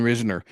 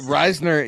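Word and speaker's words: Risner: don't yeah adult he must be you know pronouncing it like you do Dalton Reasoner uh Reisner yeah Reisner and Kush getting pushed back and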